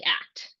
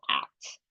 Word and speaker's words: ACT: s it sounds like act that's how you're supposed to say it I know with DBT and CBT you say the letters uh but according to